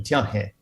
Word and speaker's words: Tianhe: Tianhe is to say it right.